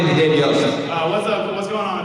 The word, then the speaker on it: Yost: All right, and his last name is pronounced Yost. Yost. I have him as David Yossi in my phone. Yossi.